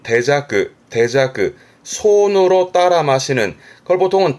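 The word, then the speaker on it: 手酌: 앞에 손수 붙은 발음은 대자크.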